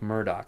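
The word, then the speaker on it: Murdaugh: Now it's it's spelled Murdoch, but it's pronounced Murdoch. I guess that's the uh Celtic or Scottish um pronunciation for Murdoch. Murdoch. Um but but it's Murdoch colon death in the family is I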